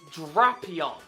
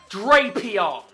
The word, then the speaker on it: Drapion: Well, I can tell you that the correct way to pronounce it is Drapion, not Drapion. It is not Drapion.